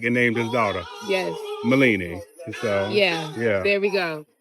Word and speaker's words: Mellini: Milini. Milini. It's Italian, because her father was in Italy during World War II, and that's the name he brought back and named his daughter. Yes. Milini.